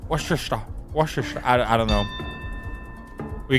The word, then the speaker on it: Worcester: Worchester. Ah, not Worcester. Worester.